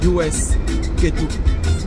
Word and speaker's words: US Ketou: Et j'ai dû, justement, pour l'occasion, j'ai dû créer une deuxième chaîne qui s'appelle US Ketou. US Ketou. U-S-K-E-T-O-U. US Ketou. Exactement comme je le prononce.